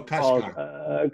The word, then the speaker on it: Kashgar: It's Kasim Kashgar. I'm sorry? Just you can middle, like you can skip the middle name. Okay. So Kashgar.